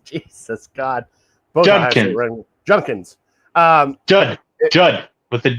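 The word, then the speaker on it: Judkins: Yeah, I like that Quinshon Junkins. Like, you don't even know the dude's name. That D is silent, Brian.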